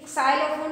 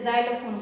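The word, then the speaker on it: xylophone: इसमें भी साइलोफोन नहीं बोलते, ज़ाइलोफोन बोलते हैं, ठीक है।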